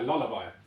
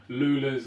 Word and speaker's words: Lulla: And they struggle with pronunciation a lot. I get a lot of like Lulas and whatever else.